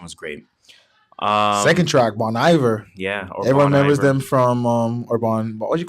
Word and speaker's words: Bon Iver: sound like I'm stupid Bon Iver pronouncing lays it earlier they're from the track monster I got the lights off it's French Iver like winter oh I'm saying Bon Iver obviously whatever don't cold